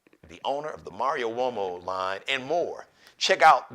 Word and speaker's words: Uomo: Italian spelled it's Uomo it's pronounced womo Italian next LIVE edition of